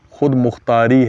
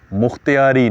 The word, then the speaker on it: خود مختاری: ان کا مطالبہ ہے، لیکن لفظ جو ہے وہ خود مختاری ہے، مختیاری نہیں ہے۔ یہ ہمارے جناب اب